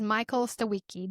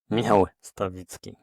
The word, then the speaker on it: Michal Stawicki: Did I say it right? Oh, of course not. You said it in the American way. How do you say your name? Michal Stawicki. Michal Which is Stawicki. totally different than, spelling in English, so I getting Michal Stawicki all the time.